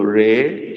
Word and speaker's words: ree: ebo is not pronounced as e is pronoun pronounced as a so Ray is r e e okay that's correct what